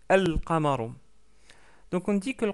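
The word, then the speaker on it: القمر: Par contre, on prononce bien le lem, on dit al-qamaru, al-qamaru, et non pas al-qamaru. Donc al-qamaru.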